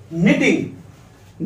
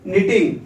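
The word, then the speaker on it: knitting: Next है के एन I double T आई एन जी, निटिंग। निटिंग means क्या होता है? बुनना। तो यहां आई एन जी लग गया तो इसका मतलब क्या हो गया? बुन रहा है। फिर से के पहले, सॉरी एन के पहले क्या आ गया? के, तो के विल बी साइलेंट, तो डायरेक्ट एन से पढ़ा जाएगा ये निटिंग।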